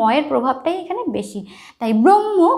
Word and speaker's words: ব্রহ্ম: একটু খেয়াল রাখতে যেরকম ব্রহ্ম এখানে হ ঠিকই আছে কিন্তু হ এর থেকে ম এর প্রাধান্য বেশি ঠিক আছে ব্রহ্ম ম